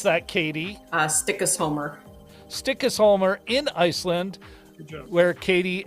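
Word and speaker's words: Stykkishólmur: And then Richard commented directly, apparently Walter Mitty, Greenland scenes were actually shot in, and I'll ask you to pronounce that, Katie. Stikkisholmer.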